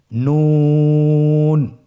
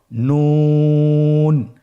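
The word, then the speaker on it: نون: নুন হরফটি উচ্চারণের ক্ষেত্রে অবশ্যই পাতলা করে উচ্চারণ করতে হবে এবং 3 আলিফ টেনে পড়তে হবে। আপনারা আমার সাথে বলুন নুন। আরেকবার চেষ্টা করুন নুন।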